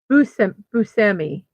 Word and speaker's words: Buscemi: Ugh, they don't always put pronunciations in if they put a pronunciation. Buscemi. Buscemi is how it's the pronunciation is.